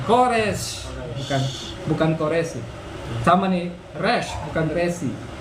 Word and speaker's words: resh: Terus Resh. resh. Bukan resi ya. Resh. Resh. Resh.